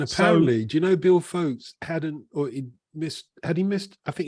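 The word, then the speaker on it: Foulkes: I never know how you say his surname. How do you say it, John? Folkes, you did right.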